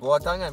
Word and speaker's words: buah tangan: Boa tangan, let me say it right. Boa tangan, betul.